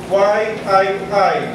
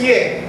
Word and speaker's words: Yii: Ye What is Ye As I pronounce it ye y II sabi niya nung ang present sa amin ng professor namin is y II sabi ng professor namin no no no it's ye ye daw Ye so Ye is a